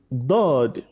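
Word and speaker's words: ض: Letter dod, the point from where it comes in our mouth is the edges of your tongue, either both edges or one side of the tongue touches the premolar and molars.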